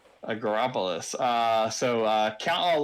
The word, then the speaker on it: Agropolis: shifting it uh is called acropolis which you got me to pronounce twice now um agropolis uh so uh count